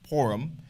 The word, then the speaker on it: Purim: the topic of purum some people pronounce as porum porum however I I tend to pronounce it as as purum because it's just it comes to my uh I guess vocabulary a lot easier for me uh depending on on